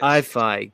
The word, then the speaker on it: iPhi: It's my YouTube channel, so it's iPhi.